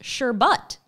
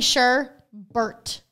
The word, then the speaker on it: sherbet: It says Sherbert, pronounced Sherbut. Sherbut. Have I been pronouncing it wrong my whole life? Look, Sherbut. Well, okay. Sherbut. Picture this. Okay, you're saying Sherbert. Where is the second R?